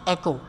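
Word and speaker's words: echo: हम कहते हैं जी एक स्टेटमेंट है जिसके नाम मैंने कल शायद मे बी इको वर्ड बोला था, इसका करेक्ट प्रोनाउंसिएशन है एको। एको एको एको करें, डेटा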